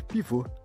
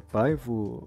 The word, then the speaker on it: Pivot: Aqui no Brasil a gente costuma chamar muito de pivô, porque é mais fácil, né? Alguns lugares também se pronuncia paivo, ou, na verdade, eu acho que depende do tipo do inglês, né?